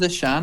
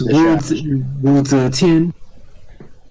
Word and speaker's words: Zetian: To be fair, is it pronounced Zishan? I always say Zetian. It's Wu Zetian.